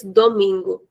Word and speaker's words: domingo: So Saturday is sabadu sabadu and Sunday is the mingo.